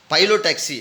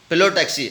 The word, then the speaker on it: Phyllotaxy: சில பேர் இதோட இப்போ ப்ரொனவுன்ஸ் பார்த்து அப்படின்னா பைலோடாக்சி அப்படின்னு நம்ம சொல்லுவோங்க. பைலோடாக்சி அப்படின்னும் ப்ரொனவுன் பண்ணலாம், பில்லோடாக்சி அப்படின்னும் ப்ரொனவுன் பண்ணலாம்.